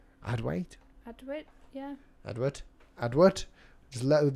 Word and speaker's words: Adwait: Adwait?